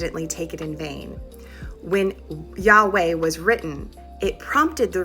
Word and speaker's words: Yahweh: Yahweh is the best estimate of how it was originally pronounced. Jehovah, and I might say Jehovah sometimes because I'm a Gentile who speaks English, um comes from a later reading tradition when those consonants